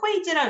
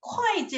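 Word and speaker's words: 会计: 그럼 이거는 회지라고 읽으면 안 되고 会计 라고 읽으셔야 됩니다.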